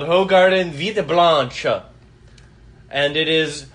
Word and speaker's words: Hoegaarden: g r d e n yes so it's pronounced it's called ho Garden Vida Blanche and it is an original oh